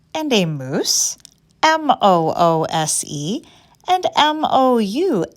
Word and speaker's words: mousse: a moose and a moose mo OSE and Mo you sse both words are pronounced the same way but boy do they